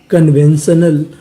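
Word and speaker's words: conventional: पढ़ते हैं कन यानी आपको कहीं पर सी यू एन लिखा मिले तो इसे क्या पढ़ना है कन तो मीनिंग क्या बनी कन वी ई एन वेन कन when T आई यू एन आपको पता है कि इसे पढ़ना है शन और आखिरी में लिखा है ए एल इसे पढ़ते हैं अल तो मीनिंग क्या बनी कन वन श नल कन्वेंशनल कन्वेंशनल कन्वेंशनल का मतलब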